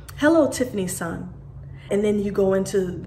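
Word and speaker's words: san: name Dash s-a-n and it's pronounced Sun so for me when they greet me they would say hello Tiffany son and then you go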